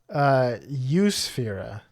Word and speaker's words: Eusphyra: It's in the genus Eusphyra. Spelled like Europe. Eusphyra. Spelled exactly like Europe. It's crazy pronunciation. It just says Europe in front of us, but we know it's pronounced Eusphyra.